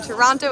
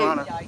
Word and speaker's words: Toronto: joining, we're here in Toronto at Trinity Bell Park. If you're in Toronto, please come through. Or if you're a Torontonian, you'd say Toronto. I say Toronto.